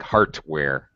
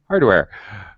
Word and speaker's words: hardware: when you said it it sounds like it has a t it sound like heartware like a pacemaker Hardware okay uh okay electricity